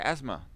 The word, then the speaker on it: asthma: like a Z sound, like asthma, where here it's more like an S sound, When you put the S before the T, it's ts, ts, ts.